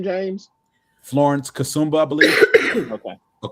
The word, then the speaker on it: Kasumba: Wait, how do you pronounce her name, James? Florence Kasumba, I believe. Okay. Or Kasuma.